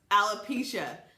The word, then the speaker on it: alopecia: I have alopecia areata totalis, and yes, it is pronounced alopecia.